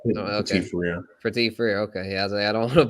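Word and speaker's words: Petit-Frere: Petit Frere. I'm Yeah, not. Oh, okay. Petit Frere.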